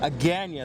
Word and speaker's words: Agana: Right now I'm in the capital of Guam, Agana, that's how it's pronounced.